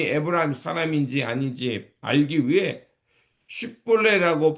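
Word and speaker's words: 쉽볼렛: 그래서 그 사람이 에브라 사람인지 아닌지 알기 위해 십볼레라고 발음해 보라고 했을 때 발음하지 못하고 십벌레라고 발음하면 그 사람이 에브라임 사람이라는 것을 알고 무려 42,000명이나 죽임을 당하게 됩니다.이 장면은 참으로 비극적인 싸움이었습니다.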